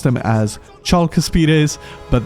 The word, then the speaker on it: Chalcaspides: I have realized it's not even pronounced Chalcaspides. I used to pronounce them as Chalcaspides, but there is no C sound in Hellenic. In fact, C is basically pronounced as a K, so it's actually Chalcaspides.